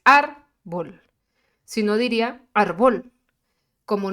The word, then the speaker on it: árbol: Porque su acento, su sílaba tónica, se encuentra en la penúltima sílaba, que es árbol.